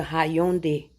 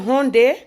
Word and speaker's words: Hyundai: He said, yes, but it's not how Hyundai is. Hyundai. I said, but America is very confusing. He said the Y is silent.